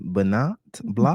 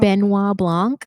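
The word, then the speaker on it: Benoit Blanc: How do you pronounce the name? Bernat Blanc. Benois Blanc.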